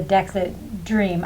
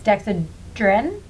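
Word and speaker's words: Dexedrine: and I prefer the dexa dream I never pronounce it correctly it's dexadrin dexadrin yeah okay I prefer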